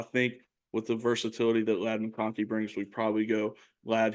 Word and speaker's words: Ladd McConkey: But Ladd McConkey, Cam, did I pronounce that right?